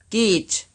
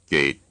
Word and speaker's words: geht: Here's a new syllable pronounced right and then wrong. geht, Gate.